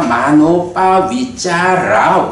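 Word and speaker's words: manopavicāra: 요 말은 원래는 여기에 마노 우빠 위짜라야. 근데 이제 뭐 발음으로 하다 보면 마노 우빠에서는 이제 모음과 모음이 이어지다 보니까 이런 부분은 이제 연결되어서 발음하게 되잖아요. 그래서 마노 우빠 위짜라가 여기서 이제 유가 그러니까 탈락하면서 마노 빠 위짜라가 된 거야.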